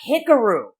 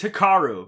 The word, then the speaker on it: Hikaru: many times you mispronounced it's a hickaroo it's hikaru there you go hickory picaroo